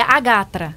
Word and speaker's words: AGATRA: Lorena Miranda, essa Associação Goiana dos Advogados Trabalhistas, qual é o a pronúncia correta da da sigla? Da sigla, desculpa, você tinha até pedido para É Agatra.